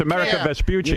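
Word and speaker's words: Amerigo Vespucci: It's America Vespuchi.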